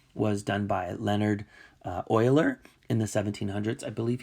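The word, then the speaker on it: Euler: comes to this number this is how you spell his last name but you um you pronounce it Oiler and so for that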